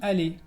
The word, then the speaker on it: allé: Entonces, el infinitivo es aller y en el passé composé, je suis allé. Je suis allé. Entonces puedes escuchar que se pronuncia igual tanto en el infinitivo como en el participio.